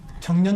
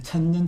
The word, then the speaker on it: 천년: 그 아, 청년 작가라고 했는데 네. 발음 잘하셔야 되는데 천년 작가입니다. 천년 작가예요. 천년, 청년 작가가 아니고.